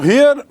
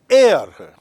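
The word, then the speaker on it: heir: Remember यहां हेयर नहीं है। उत्तराधिकारी है। The spelling of the word हेयर means H ए आई आर हेयर। एंड हियर the spelling is एच ई आई आर एयर।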